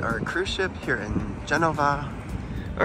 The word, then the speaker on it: Genova: today we were in Genova which there's a v in it here in Italy but in America we say Genoa yes but here they say Geneva and they spell it with a V mhm but we went